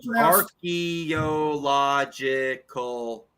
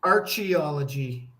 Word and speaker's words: archaeological: Archaeological. That's a 6-syllable word. I thought it was pronounced archaeology.